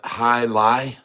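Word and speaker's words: jai alai: it's named after you perhaps they call it high Li have you ever heard of that I was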